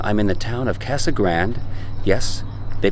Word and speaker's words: Casa Grande: I'm in the town of Casa Grande. Yes, they pronounce it that way. It's not Casa Grande like it should be in Espanol, but it's Casa Grande, and this is about